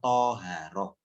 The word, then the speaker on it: Thoharoh: ada namanya Oh roh tulisanya begini Thaharah bacanya thoharoh Apa itu thoharoh pahlawi toharoh itu bersuci